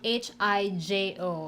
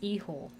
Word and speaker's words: hijo: b no yeah no h is silent in spanish j makes an h sound in spanish and sometimes a y